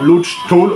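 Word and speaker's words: Laugh Tale: de cette grande mer, Lodge Toll, orthographe venue par Oda. En fait, c'est comme ça que ça se prononce, hein.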